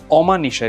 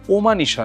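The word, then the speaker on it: অমানিশা: ধ্বনি এটার পূর্ববর্তী যে অমান নিশা কিন্তু ওমানিশা নয় কথা এটা কিন্তু কথা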